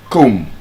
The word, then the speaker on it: comb: The B is silent in bum climb comb.